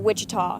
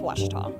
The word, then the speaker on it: Ouachita: Back in Texas, everybody pronounces it Wichita, but really, it's Ouachita.